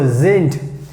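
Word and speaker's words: sind: to keep in mind whenever we have d at the end so we have to pronounce like t so zint then we have zeit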